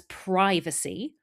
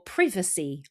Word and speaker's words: privacy: Now, this next word can be pronounced as privacy or privacy, depending on where you're from and your accent. Both are fine.